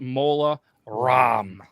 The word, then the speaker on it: Mola Ram: Yep, this round is Voldemort versus Mola Ram. Like CD-ROM, but apparently it's spelled Ram, which is really dumb anyway.